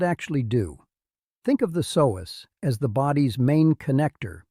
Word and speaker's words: psoas: a muscle called the psoas. You say it like this, Psoas.